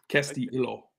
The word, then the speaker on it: Castillo: Castillo. It's weird, yeah. It's a weird pronunciation. Okay. Oh, I thought you were just being No, that's really how you say it.